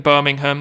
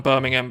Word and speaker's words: Birmingham: away it's back in Birmingham this weekend it's Birmingham sorry I'm not going to pronounce it like the Americans do Birmingham the people in England would call it Birmingham but the interesting event